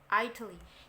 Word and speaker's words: Italy: So, pronounce soft D. Jadi dia dibaca D, bukan D gitu, bukan ya, D, Italy. Jadi masuk T tapi masuknya ke D gitu ya.